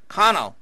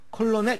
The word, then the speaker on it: colonel: colonel, 콜로넬 이렇게 발음하면 안 됩니다. colonel, L이 묵음입니다.